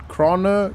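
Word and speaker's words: Krone: I love the Crone how do you say it croner Crone I I think it's grown cuz it makes sense right when you say alone you don't say Alona that is how my brain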